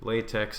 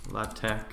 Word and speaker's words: LaTeX: so we've got rit latex latex i guess is how it's pronounced and awsm so uh